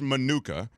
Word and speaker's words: Manuka: important ways Kate what is it Monica or manuka sam says manuka I said manuka till I heard you say Monica Monica and that's because if it Thank You Monica's and Modi word please spell it with a mine or macron over the a which makes it a long name Monica I don't have